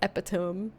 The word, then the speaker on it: epitome: it out loud as epitome and it's kind of the same thing it has that e at the end that you pronounce as e instead of the other you know you know